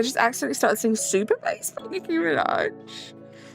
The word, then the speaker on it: Nicki Minaj: I cannot for the life of me actually remember this song because I just accidentally started singing Super Nicki Minaj. Nicki Mirage.